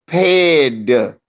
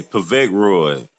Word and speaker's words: Povetkin: And my man, and y'all keep mispronouncing the name, is Povetkin. P-E-D Vetkin. No, hey, like Coach say, Povetkin.